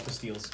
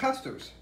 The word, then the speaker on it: pastilles: I know they're called pastilles, but had to throw an American touch on. This is my all-time... No, fruit pastels. Oh, I thought it was pastilles. No, you pronounced that wrong. It's fruit pastels.